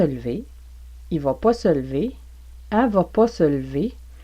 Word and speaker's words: lever: exemple, tu vas te lever, vous allez entendre tu vas te lever. Tu vas te lever. Donc, c'est le E de lever qui n'est pas prononcé, qui est muet ici. Tu vas te lever.